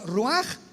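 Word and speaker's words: רוח: Por eso el Espíritu Santo se pronuncia roaj, se escribe roach, ch.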